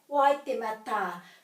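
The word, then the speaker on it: Waitematā: So we're going to have a break here after every vowel. Wai, te, ma, ta.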